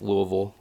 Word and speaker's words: Louisville: might go to kentucky people don't hate me louisville for the uh that show i'd like to go that one but if you're in kentucky i'll say it right louisville there we go right